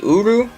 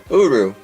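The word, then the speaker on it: Urus: actually um but yes every time I heard it pronounced nobody says the S so uru that's how I uh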